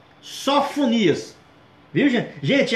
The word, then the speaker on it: Sofonias: Não é sanfoneiro, gente, é Sofonias, tá ok?